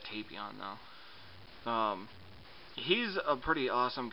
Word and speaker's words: Tapion: I always called him Tapion before I actually saw the movie, so I have to like stop and think for a second. They pronounce it Tapion though.